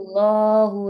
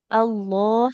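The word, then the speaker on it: الله: Allah sama lafaz Allah. Hati-hati ya, jangan seperti ada wownya. Tidak Allah, tapi Allah. Allah. Allahu tapi tidak tidak Allah ya. Tapi Allah dia lamnya tebal.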